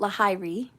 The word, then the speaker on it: Lahiri: the heavens la hiri it's spelt lahiri but it's lahiri ayanom shan which sounds like aya namsha okay so if you